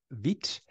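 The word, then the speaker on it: Vite: right name so um I've heard various pronunciations of vit some people pronounce it vit some people pronounce it V um but I do believe that this is the pronunciation that the authors um intended was vit because once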